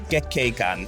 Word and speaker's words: Gekkeikan: Yes, it's Gekkeikan.